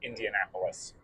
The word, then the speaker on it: Indianapolis: I don't know if it's like Indianaapolis or just Indianapolis. I' I've always heard it pronounced Indianapolis.